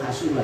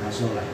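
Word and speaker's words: حَصُلَ: Fa ma'nal bai' hasala lil ismi atau hasula itu bacanya bukan hasala.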